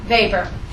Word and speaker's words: Weber: favor what's his name Vapor it's actually spelled with a W because he's German so it's it's w-e-b-e-r looks like Weber but it's Weber Max Weber Max Vapor